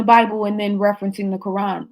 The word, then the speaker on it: Quran: In the Quran, Quran is the proper way to say it.